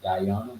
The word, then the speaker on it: Gehenna: Gehenna. Mm-hmm. Yo, Gehenna, however you want to pronounce it. Guyana, yeah.